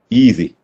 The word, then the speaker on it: easy: ഈസി, ഈ ആദ്യത്തെ ഇതൊരു ഇ എന്ന ലോങ് ഇ ആണ്. ആൻഡ് സ്പെല്ലിങ്ങോട്ട് ഒരു ബന്ധവും അതിനില്ല. ഈ എ ആണ് എങ്കിൽ ARC എന്നല്ല അതിന്റെ ഉച്ചാരണം, ഈസി. ആൻഡ് ദി എസ് ഇത് ആകാൻ കാരണം അതൊരു രണ്ട് വവൽ ശബ്ദങ്ങളുടെ ഇടയിലുള്ളതാണ്. വൈ ഒരു വവൽ ലെറ്റർ അല്ല, പക്ഷെ നമ്മൾ ഉച്ചരിക്കുമ്പോൾ ഇ ആണ് ഇവിടെ വരുന്നത്, ഈസി.